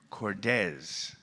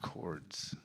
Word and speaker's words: Cordes: very much cordes not cords so i'm doing terribly